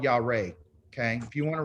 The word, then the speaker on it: Yahweh: It's really basically how you say it is Yahweh. Yahweh. Like hip hip hooray is Yahweh.